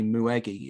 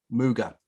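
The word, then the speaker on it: Mügge: And it's something that I want to very much jump into, probably, is your work with Kai Muwegi. Is that how you pronounce it? Muwegi? Muga. Kai Muga, because you focus on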